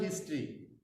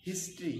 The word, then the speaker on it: history: ইন our national হিস্ট্রি, আমাদের জাতীয় ইতিহাসে একটা স্মরণীয় দিন। হিস্ট্রি, হিস্ট্রি, আমরা অনেকে হিস্টোরি বলি, তো সঠিক উচ্চারণটা হিস্ট্রি।